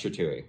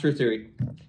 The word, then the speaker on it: Trethewey: Trethewey, yeah. Trethewey. Jeez, it's hard to say. It is a hard one, yeah, I know. Yeah, Rhymes with chop suey.